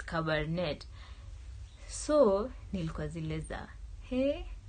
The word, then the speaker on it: Cabernet: carbonate Sauvignon like it's when you spell it it's see a be ER and et but when you read it it's cover net so Neal Casillas de